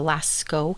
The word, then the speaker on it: Lascaux: A great example of where you'll see white and ochre and black is the Lascaux caves in France. Oh, yeah. I looked up the pronunciation. Ooh, apparently hey. it's Lascaux.